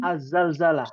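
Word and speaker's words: الزلزلة: Al-jaljalah bukan pakai jim ya. Al-Zalzalah. Nah, yang betul huruf komariah apa syamsiah tuh? Al-zalzalah apa az-zalzalah?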